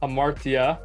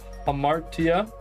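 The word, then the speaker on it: ἁμαρτία: if I remember right this is um Amara right amartia but it's an H sound here oh yeah rough read the mark so homar homara which reminds me of Homer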